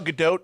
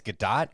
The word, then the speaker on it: Gadot: i i think it's gadot gadot i think it's good it's nakado no it's not it's good the t is pronounced apparently it's not it's not silent as you know has